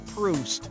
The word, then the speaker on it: Proust: Choose the word that rhymes with the correct pronunciation of this famous author's name. Boozed, soused.